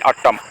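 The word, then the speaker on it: autumn: उत्तर next question हम देख which letter is silent in ऑटम ऑटम में हम को लेटर साइलेंट से पता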